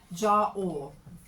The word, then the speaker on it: Jera: This is Jera, and it's actually pronounced C. Ja-or. Who knew?